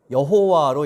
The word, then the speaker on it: 여호와: 성경에 보면 여호와라고 기록되어 있지만 정확하진 않고 아도나이라는 그 글자에서 이제 모음을 따서 이 글자에 붙여서 발음을 비슷하게 한 것이 여호와라고 이야기를 합니다.